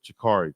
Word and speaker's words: Jakari: Pronounce it like that. Shakari Walker. Shakari. Kind of like a J.